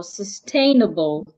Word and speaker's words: sustainable: So we are stressing tain it means that we are not stressing the other part if I want to pronounce it I'll go sustainable sustainable sustainable so the a is the part that I said louder, longer and clearer.